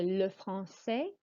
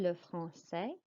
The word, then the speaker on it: français: For le français, the C is pronounced like an S sound, le français.